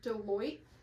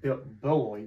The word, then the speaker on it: Beloit: I don't know how to pronounce it, but I want to say Deloitte. Well, Beloit. Oh, Beloit, yeah. It's a B.